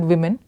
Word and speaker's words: women: In the word women, we pronounce the O as I, and he said it could replace the I of fish.